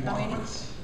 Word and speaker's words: Walkowitz: I nominate Jackie Walkowitz. WALKWITZ. Repeat that back. WALK, walk, WITZ. Okay. Is that spelled with a CQ or a CK?